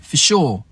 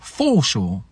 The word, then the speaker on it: for sure: La deuxième raison, c'est l'accent tonique, parce qu'en anglais, l'accent est sur "sure" et pas sur "for". On dit "for sure", on dit pas "for sure".